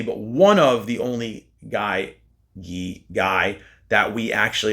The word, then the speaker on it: Guy: I always say Guy. I know it's Gee, but I think Guy sounds better.